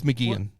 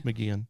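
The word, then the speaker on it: McGeachin: McGeechan. It's McGeehan. That's how you pronounce it. Is it? Okay. Yeah, it's McGeehan.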